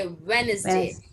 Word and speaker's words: Wednesday: उसमें हम डी को फिर साइलेंट भी कर देंगे और उसको बोलेंगे वेडनेसडे.